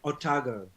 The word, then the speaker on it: Otago: It's pronounced Otago.